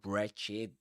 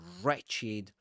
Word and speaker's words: wretched: You don't say wretched. You don't pronounce the w at the beginning of a word.